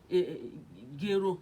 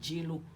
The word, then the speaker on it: gero: asked her to say gero that is millet you know the just people they cannot pronounce gero clearly the house they they normally call it jaylo so she said jero